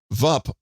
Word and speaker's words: Vup: VUP, Vup.